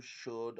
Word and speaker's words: should: The same applies to should and would. R is not a pronounced letter.